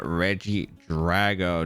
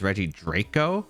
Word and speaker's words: Regidrago: but the thing is i pronounce this pokemon as reggie draco because i kept thinking it was a c and i never noticed a g until i was about to upload the video so r.i.p me that's